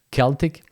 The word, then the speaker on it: Celtic: So the term Gaulois in French or Gauls in English was used by the Romans to designate the Celtic, sometimes pronounced Celtic, people who occupied the territory of present-day France, more or less.